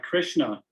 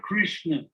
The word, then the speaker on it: Krishna: christian the very word krishna it's interesting it's made of two syllables krish and na krish means the universe